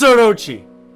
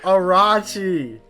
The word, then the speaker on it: Orochi: It's Orochi. It's Orochi. It is. I told you. Sorry. You said Arachi.